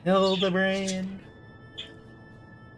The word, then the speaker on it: Hildibrand: It's pronounced Hildibrand.